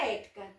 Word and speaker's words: ética: Como a sílaba tônica dela está na antepenúltima, então ela é uma proparoxítona. E a gente já viu que todas as proparoxítonas são acentuadas, por isso ética está acentuado.